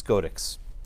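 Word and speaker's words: SCOTX: Supreme Court of Texas is Scodex, which it's just, you can't really pronounce it, but it's Scodex.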